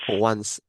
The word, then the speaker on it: once: The c is pronounced like an s.